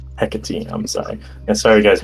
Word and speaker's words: Hecate: I don't know how to pronounce that name. I'm sorry. It's Hecate. Hecate.